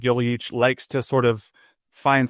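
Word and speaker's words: Joveljić: You got to put a little zhuzh on it, if you will. A little zhuzh, Joveljic. Dejan Joveljic.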